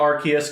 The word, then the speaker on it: Arceus: pokemon legends arceus um i'm gonna call it arceus because i'm i'm pretty sure that's how they pronounced in all the marketing um i'm used to calling it rcs uh but the fact